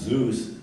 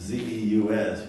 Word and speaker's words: Zeus: With all the slang developing, but they pronounce, we would pronounce Zeus, it was Z-E-U-S, which is, well, they pronounce it Zeus.